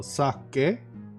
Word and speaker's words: Sake: Okay, in English you pronounce the E more like an I. Yes, I have been doing that. But in Finn we pronounce the E like E. Or E. So, sake.